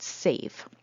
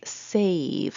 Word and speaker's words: save: e and then they read it as save and not sav okay not not a short a okay and then finally